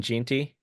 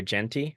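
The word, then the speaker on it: Jeanty: least for this section Ashton gy or jenty I've heard those two pronunciations so I'm gonna say both um boy EST State running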